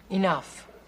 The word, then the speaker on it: enough: farm is Big E enough what see the GH at the end of that word that's pronounced like an F if they want it